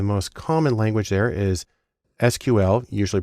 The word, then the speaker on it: SQL: The most common language there is SQL, usually pronounced SQL, which stands for Structured Query Language, because that's where the data is.